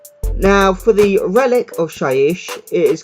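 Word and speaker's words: Shyish: Okay, so the next one is from the Realm of Death, or Shaiish as it's pronounced.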